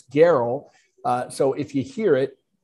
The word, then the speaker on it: Gerl: Because nobody would look at it and pronounce it correctly without knowing it's Gerl.